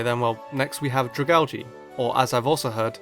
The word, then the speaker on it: Dragalge: But it turns out that dragalgi is the correct pronunciation since his name is a combination of dragon and algae.